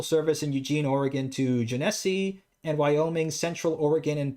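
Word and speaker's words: Genesee: Pacific transfers local service in Eugene Oregon to janesse and Wyoming Central Oregon and Pacific Railroad I say that right Jessie is that what how you say it Gennesse and Wyoming Gennesse there we go jese and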